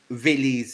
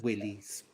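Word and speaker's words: Wilis: but it's spelt willy's which ballet has the famous ballet has there villis for people pronouncing willys in this country no idea does anyone in the chat know what the videos you can tell by that it sounds german so it's going to be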